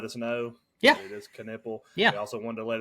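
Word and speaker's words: Knueppel: fans reach out to me this week and pronounce it is can nipple yeah nipple it is not just nipple the there it's kipple just Duke fans wanted to let us know yeah it is canle they also wanted to let us know they're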